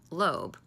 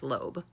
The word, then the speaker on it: Loab: There is an AI generated woman named Lo. It's spelled like Loab, L O A B, but it's pronounced lobe.